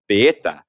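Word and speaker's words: Baieta: It was called Baeta, B-A-I-E-T-A, which sounds, I don't know how the French would pronounce that, but I said it probably how they would in Spain.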